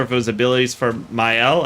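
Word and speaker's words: Maelle: it was abilities from Myel. I think myel is how you pronounced it.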